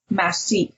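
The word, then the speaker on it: massif: straight up to the biggest face on the masse that's how you say it from there to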